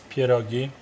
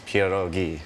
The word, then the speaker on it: pierogi: want to say it the right way right Pia doggy kiddo get snappy oh jeez it's pure ghee thank you there's no ads on the end